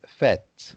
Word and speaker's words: fête: It's fête. Okay. Fête, so you don't pronounce the E at the end.